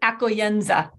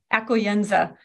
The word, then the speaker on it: accoglienza: The word is accoglienza, accoglienza. I actually have a way you can pronounce it on my blog, accoglienza.